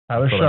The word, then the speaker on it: Shough: I was going to say, completely stupid and not pronounce it correctly, but Tyler Shough. Shuck. Sorry, I heard Shuck. Tyler Shough.